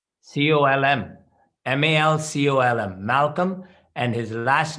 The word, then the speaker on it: Malcolm: Malcolm. Malcolm. Malcolm. The second L is silent. Colm. Malcolm.